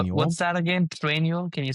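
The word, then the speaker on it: Trainual: Trenu. Can you spell that? Traual. T R A I N U A L. Like training manual. Trenule.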